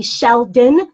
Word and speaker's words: Sheldon: Did I say it right? Shelton. Yeah, so that's a running joke. I've known Stephanie for years, and she's going to let you know it's a D, not a T.